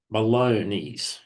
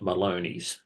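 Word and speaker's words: Melones: here at now Malone it's spelled m e l o n s and I heard uh somebody presenting a American and they were calling it Maloney so I guess I should do the same uh the Sierra raway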